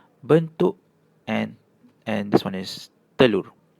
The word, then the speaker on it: telur: and this one is telur. So you can see whenever E is paired with an I or U it has an "er" sound.